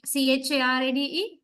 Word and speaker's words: charade: next, C-H-A-R-A-D-E. How do you say? Charade. Sh. Sh. Right. And also, next word, who is pronounced with initial sh, shave, right?